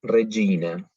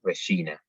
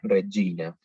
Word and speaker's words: Regina: Entonces, si tenemos E o I, la pronunciamos como una G italiana, es decir, Regina. Es importante, nosotros tendemos a pronunciarlo, por cómo pronunciamos nosotros ese tipo de consonantes, a decir Regina, pero la pronunciación correcta sería Regina.